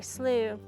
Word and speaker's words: slough: So slooh is a word that we have to kind of introduce people to. S L O U G H. So if you see the word written out, now you know how to say it.